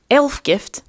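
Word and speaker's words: Ælfgifu: It's pronounced Elfgift, I believe, but it's written Elfgifu.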